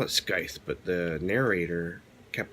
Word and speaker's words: Scythe: And last but certainly not least, I read this, Scythe. I call it Scythe, but the narrator kept pronouncing and not pronouncing the C at all, Scythe.